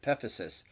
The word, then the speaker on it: epiphysis: So if we take a look at the list, we have the ends of the bones, epiphysis, that's how that word is pronounced, epiphysis.